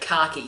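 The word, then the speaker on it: CACI: It's not spelt with a K, but khaki, C-A-C-I, khaki.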